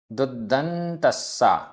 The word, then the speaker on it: दुदंतस्सा: उच्चारण, इंद्रिय, इंद्रिय आधा ना द, इंद्रिय दुदंतस्सा, दुदंतस्सा आधा द पूरा द, आधा ना त, आधा सा पूरा सा।